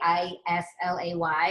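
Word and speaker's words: Islay: laying around that's it looks like i lay i-s-l-a-y it's pronounced isla but all the it's a region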